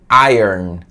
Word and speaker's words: iron: de ferro iron man então a pronúncia é airon airon é tipo eu a